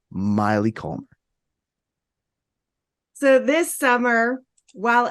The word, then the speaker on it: Maile: Please welcome my friend Maile, and it rhymes with Smiley, Maile Collmer.